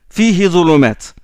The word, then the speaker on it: فيه: Fihi zulumat. On ne prononce pas le ha parce que derrière il y a un soukoun, il y a le ya.